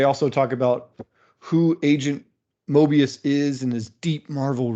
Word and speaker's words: Mobius: Mobius M.